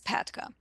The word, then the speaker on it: PATCA: So I was going to do everything I could to correct the PATCA so it sounds more natural and it's pronounced as Patka.